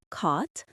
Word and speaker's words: caught: Caught, taught, bought. The gh is silent and the vowel sound is long and open like the a in saw.